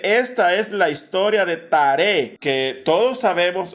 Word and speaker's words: Taré: en el idioma original el nombre de Taré, que nosotros llamamos Taré y que Taré era el padre de Abraham, se pronuncia Terah, y viene la NBI